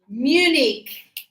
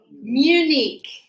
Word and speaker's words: Munich: Munich. Munich. Just like the other city in Switzerland, Zurich.